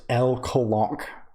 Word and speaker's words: LLLL Colonq: The character is 4 capital L's Colonq, pronounced L Colonq.